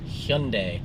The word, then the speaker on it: Hyundai: So, what rhymes with Sunday? It is Hyundai.